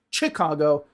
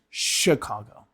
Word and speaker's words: Chicago: No one in the United States, no one in the English-speaking world says Chicago. It's Chicago.